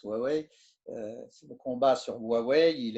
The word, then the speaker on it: Huawei: le combat sur Huawei, qui s'écrit Huawei, mais qui se prononce Huawei.